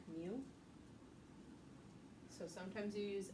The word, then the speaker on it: mu: It's pronounced like mu.